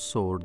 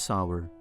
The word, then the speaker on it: sour: mangoes taste sour and please don't pronounce sword that is wrong it is sour these flowers smell sweet